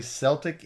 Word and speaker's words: Celtic: I know that people some people say Celtic and Celtic. Yeah, I think that's in England and Wales. It's usually pronounced Celtic. Yeah. Whereas in Scotland, you're more likely to hear Celtic.